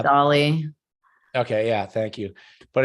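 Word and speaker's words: DALL-E: I don't want to mispronounce. What's your name? something like that. I think Joey probably may have it there, but I think it's Dolly. Yeah, it was Dolly.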